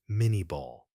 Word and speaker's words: minié ball: The ultimate curiosity in bullet evolution traces back to the mid-19th century with the invention of the minié ball, pronounced mini ball.